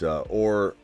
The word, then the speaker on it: Orhorhoro: It's Orhorhoro.